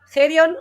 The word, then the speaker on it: Hae Ryung: carrera y ahora brillante y excelente profesional oftalmóloga, Gerion Wong Kim. Gerion, que por cierto se escribe Jae-ryung con Y, con U-N-G, con H